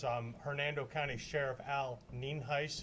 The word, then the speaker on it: Nienhuis: for your records um Hernando County Sheriff Al ninheis it's pronounced Neen heis and it is spelled n-i-e-n-h-u-i-s uh I do